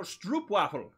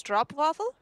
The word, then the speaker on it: stroopwafel: It's pronounced like road, so it's O, so it's stroopwafel?